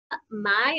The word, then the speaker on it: Mai: So next we have Ella Mai, I'm guessing is how you say her last name, M-A-I?